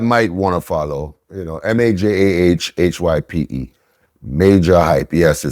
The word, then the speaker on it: Majah: Because the J is pronounced as an H. Silent. No, it's pronounced as an H in Spanish.